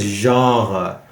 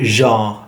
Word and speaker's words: genre: like yeah we say the word is genre that is the dictionary pronunciation of it but in reality we don't have time for that jaw you want me to say um no we say it's shortened to jean for example you